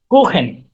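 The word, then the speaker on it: Kuchen: ক্ষেত্রে হচ্ছে চালু বর্ষ, কিছু ক্ষেত্রে খ। যেমন দেখেন, কুখেন।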